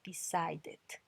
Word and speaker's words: decided: Decide termina en D, decide. Entonces cuando termina en T o D suena completo, decided, decided, ahí suena completo.